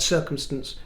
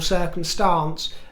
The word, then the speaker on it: circumstance: Most will say circumstance or circumstance, but very few these days say circumstance with a neutral vowel.